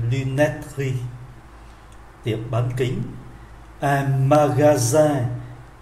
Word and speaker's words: magasin: Un magasin, ký tự S phát âm là Z bởi vì đứng giữa hai nguyên âm.